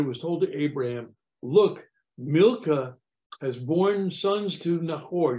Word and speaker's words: Milcah: But it pronounces Micah. No, Milcah is Milcah.